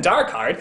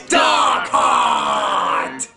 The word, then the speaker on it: Dark Heart: wrong the whole time it isn't dark heart it's darkart and what if I